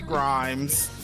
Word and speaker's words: Grimes: and it says Sky Grimes nurse and on the back it says for pronunciation it rhymes with g crimes Logan looks at the